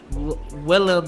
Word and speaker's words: Willem: William Dafoe so yeah Willem Dafoe I always pronounce of William and you have an